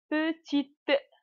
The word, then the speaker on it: petite: A, SA, PETITE. إذن وقفنا على التي لأن E لا تنطق في الأخير. تساعد فقط على نطق الكونسون أو الحرف الذي يسبقها.